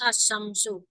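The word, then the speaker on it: الشمس: bacanya apa yang atas asyamsu Ah asyamsu Bu lamnya ada tidak kenapa lam ada tidak lam lamnya enggak dibaca Nah lamnya itu ada tapi tidak dibaca Kenapa karena dimasukkan kepada Sinin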